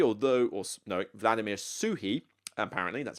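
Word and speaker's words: Suchý: his designs of Vladimir Suchi although or no Vladimir suhi apparently that's how you pronounce it uh you apparently pronounce it sue hee you don't pronounce it with a chi like CH or anything but this one point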